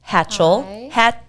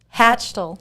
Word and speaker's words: Hachtel: This is Hachtel. Hachtel. Hachtel.